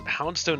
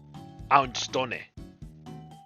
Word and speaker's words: Houndstone: In Spanish, the H is silent at the beginning of most words. So this would be houndstone.